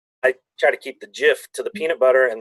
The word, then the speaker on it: GIF: right a might or Jif how do we pronounce it here I think if we love a hard G in the UK it's great yeah gif yeah a good gift